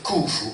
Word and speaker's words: Khufu: La piramide di Cheope, oggi come oggi, nella traduzione letterale accadica, viene detta Akat Kufu. che evidentemente questo signore mi pronuncia con la vera pronuncia, Akut Khufu, che vuol dire pietra accadica.